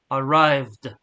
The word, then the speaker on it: arrived: reading the past here you don't read this e here this is silent but you have to read the D arrived so usually we join